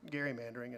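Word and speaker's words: gerrymandering: folks opinions about partisan Gary mandering and forgive me for being a history nerd but it was named after Elbert Gary so I pronounce it that way but people's opinions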